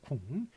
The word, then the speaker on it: 국민: 그러니까 소문자로 적어주시고, 그 다음에 요게 지금 저기 자음동화 비음화를 일으켰습니다. 그래가지고 국민이 아니라 궁 이렇게 나기 때문에 발음대로 NG로 써주고요.